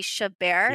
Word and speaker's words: Chabert: And so Hot Frosty, I will say, stars Lacey Chabert.